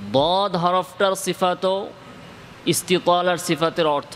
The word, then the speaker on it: ض: তো দদের ইস্তিতালার সিফাতটা হচ্ছে এটা, উচ্চারণের সময় মাখরাজটা কি হবে?